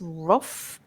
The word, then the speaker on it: rough: Um, so it's that h sound at the beginning and then but the the end of it is easy. It's just like a f.